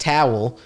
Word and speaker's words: Tawil: So the last name is pronounced Tawil, but when you translate it into English, it means tall.